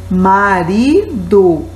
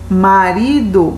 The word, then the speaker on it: marido: Agora, a segunda palavra aí, marido. Você vê que a sílaba que está em vermelho é o ri. Marido, marido, ó, marido. Você vê que você demora um pouquinho mais na sílaba ri, ó.